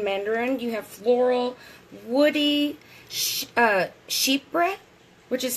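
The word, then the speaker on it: chypre: bergamot orange and Mandarin you have floral woody sheep breath which is spelled CH y PR e that was invented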